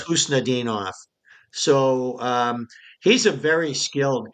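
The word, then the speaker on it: Khusnutdinov: Husnudinov? Yeah, Husnudinov. It starts, it's like a lot of Russian names that start with a K.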